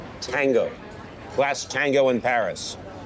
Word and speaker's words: Paris: Last tango in Paris. Last tango in Paris. Or more accurately, last tango in Pari.